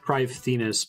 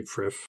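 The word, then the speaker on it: Prifddinas: over there really quick make sure it's pronounced privethinus but i'll just say priff i feel like an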